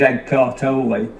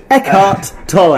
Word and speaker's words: Eckhart Tolle: desperately searching on Google who the fuck is Ed Cartoli, and are we pronouncing him in a way that's so typical? Unfair for you to make me look so foolish. Eckhart Tolle.